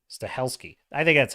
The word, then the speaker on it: Stahelski: franchise a success Stalin uh St stesy stes stahelski stahelski I think that's how you say it staheli